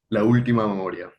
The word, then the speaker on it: La Última Memoria: Did I pronounce that okay? La última memoria, La Ultima.